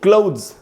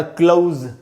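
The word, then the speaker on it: clothes: इनको हम क्लॉथ्स नहीं बोल सकते। तो ऐसे पढ़ना है दोस्तों, क्लोथ्स या क्लोज, दो उच्चारण है। एक में तो द है, TH से द बना, S से ज बना, क्लोथ्स। नहीं तो दूसरे उच्चारण में तो द भी नहीं है, आप नहीं लगाएंगे तो भी चलेगा। तो ये दोस्तों क्लोज, क्लोज सिर्फ इतना बोल सकते हैं।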